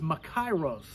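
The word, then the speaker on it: μακάριος: in the greek language the word blessed is pronounced macaros and in latin the word blessed is biates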